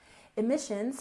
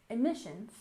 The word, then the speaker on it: emissions: the first syllable carbon carbon emissions has stress on the second syllable emissions emissions altogether carbon emissions and